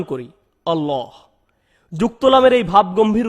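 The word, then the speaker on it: الله: অক্ষরের বিশেষ উচ্চারণ রয়েছে সাধারণ নিয়ম হলো যখন লাম অক্ষরের উপর তাসদিদ যুক্ত হয় আমরা হালকাভাবে উচ্চারণ করি আল্লাহ আল্লাহ কিন্তু আল্লাহ শব্দটি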